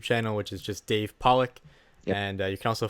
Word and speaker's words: Pollack: I know sometimes I might get confused with a 250-pound, like I think he was a linebacker, David Pollack, pronounced the same, spelled the same.